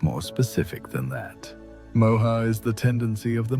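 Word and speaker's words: moha: The sages called it moa, pronounced moa, and it's perhaps the most insidious of the three because it disguises itself as wisdom while leading us further from truth.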